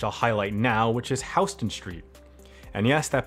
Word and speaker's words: Houston Street: correct it is not houston street it is houston street the street in new york is named after william houston while the city in texas is named after sam houston so that's uh probably